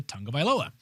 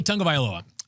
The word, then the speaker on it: Tagovailoa: And it's not, we were saying Tua Tagovailoa. Now you've got me all jacked up. Viola, you said? Yeah, I said Yes. Viola, Viola, all right. Viola Davis. Tua Tagovailoa.